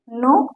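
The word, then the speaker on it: know: गलतियां होती है देखिए नो और नो दोनों का मतलब सेम है अलग है और स्पेलिंग भील देखिए के एन ओ डबल नो मतलब होता है जानना यहां पर के साइलेंट है न के पहले अगर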